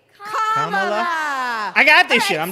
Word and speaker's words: Kamala: First, you say comma like a comma in a sentence. Then you say la like la la la la la. Put it together, and it's 1, 2, 3. Kamala.